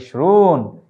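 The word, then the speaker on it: عشرون: 20-এর আরবি হচ্ছে ইশরুন। এটি খুব আমাদের জন্য মনে রাখা সহজ। ইশরুন অর্থ 20, এখানটায় আমরা উচ্চারণ দিয়েছি।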